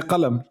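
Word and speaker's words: قلم: There's like there's also like the rural Palestinian can say qalam with a qa.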